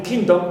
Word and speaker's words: kingdom: Also done, right, the suffix done, like in kingdom, is neutral, so we stress king and not done.